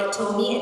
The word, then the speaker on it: Atome: 14 2022 I joined at Tomi and that's where my love affair really started and told me stands for available to me that's how you can remember how to how to pronounce Atomic data so what